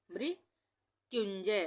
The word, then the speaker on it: मृत्युंजय: मृ हो गया मृत्युंजय आधे त का उच्चारण हो रहा है तो आधा त इस